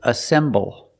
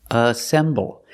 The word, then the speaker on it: assemble: the first word is assemble assemble it's three syllables a symbol the stress is on the second syllable Assemble and the second